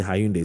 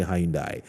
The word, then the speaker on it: Hyundai: Now, first and third accused used some of the stolen money to buy a Hyundai, some say Hyundai, some say Hyundai, Elantra at a cost of 80,000 Ghana cedis.